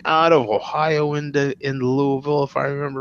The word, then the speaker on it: Louisville: four was in Louisville you better say it right don't say it Louisville right Chucky and I